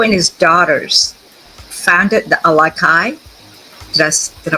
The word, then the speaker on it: Alakai: In 2020, Joe and his daughters founded the Alakai, did I pronounce that correctly?